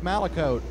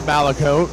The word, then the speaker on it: Malicote: the 11 of Isaac malote my bad on the pronunciation pronunciation there of of the race leader it is malicote I don't know what